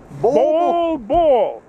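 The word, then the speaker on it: Bol Bol: easy to remember by it is b-o-l-b-o-l and and when they announce his name on uh pronounces that ball ball and it's just like wow you can't quite miss that so he's he's a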